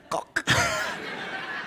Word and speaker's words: Koch: His name is Conrad Koch. Koch. It's not my name. What? It's Koch. Koch. Koch. Koch. How does make it better? See, how do you spell that? K-O-Flen. No, it's German.